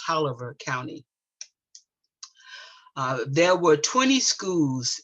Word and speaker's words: Taliaferro: And yes, it is pronounced Taliaferro County.